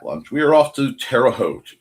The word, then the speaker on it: Terre Haute: After cat lunch, we are off to Terre Haute in Certain. Rhymes with boat to Muncie, and inserting Dawn makes everything a little bit more interesting.